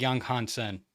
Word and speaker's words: Yang Hansen: So it's Yang Hansen. I think it's like Young Hansen.